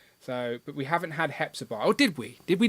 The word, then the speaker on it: Hepzibah: When they say Hua, has got half of YouTube apologizing to me when they pronounce it wrong. So now we're going to go with Hepzibah.